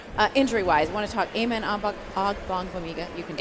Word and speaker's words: Amen Ogbongbemiga: But injury-wise, I want to talk Amen Ogbongbemiga. You can Amen Ogbongbemiga. There you go. Give us the Joe Tryon pronunciation, too.